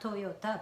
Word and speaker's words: Toyota: I learned that American people divide it as toy, yo, like O, but then kind of connected to this Y sound, Toyota. So like it's actually not Toyota, but Toyota.